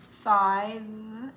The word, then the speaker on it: five: not just four four five has to have the V sound but you don't